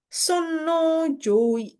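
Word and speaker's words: 尊王攘夷: Ini bacanya adalah Sonno Joi ya.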